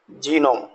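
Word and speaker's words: gnome: अब देखिएगा कॉलोन, जी को हम साइलेंट छोड़ दें, कॉलोन। जीनोम, right.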